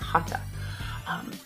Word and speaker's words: hatha: the ancient language of yoga that tea is pronounced hata and from hata yoga there's been so many different evolutions but